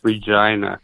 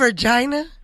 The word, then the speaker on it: Regina: Yeah, it's pronounced Regina here Regina. for some reason.